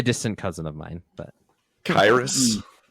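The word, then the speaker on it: Kyriss: Maybe a distant cousin of mine, but Kyrus. We pronounce it Chris, actually.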